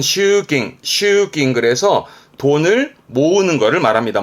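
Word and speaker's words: 集金: 발음은 슈깅.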